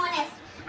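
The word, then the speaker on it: honest: एच हमारा consonant था। बट यहां पर हमने साउंड को देखा। हम पढ़ रहे हैं इट्स अ ऑनेस्ट। अब यहां पर भी हम स्पेलिंग को नहीं देखेंगे। हम क्या बोल रहे हैं? ऑनेस्ट। ओ ओ मुंह देखो गोल बन रहा है ना? ओ ओ का साउंड आ रहा है।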